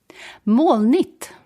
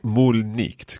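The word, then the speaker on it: molnigt: it one more time more neat right see sometimes it sounds as if you're pronouncing the g like a k in there and sometimes it sounds like it's silent i think i pronounce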